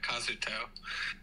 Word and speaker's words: Kazuto: Is it Kazuto or is it Kazuto? Yes, so it's Kazuto.